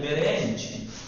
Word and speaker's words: برنج: برنج نہیں بیرنج.